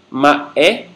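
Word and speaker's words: mba'e: Ma-é ou ma-é.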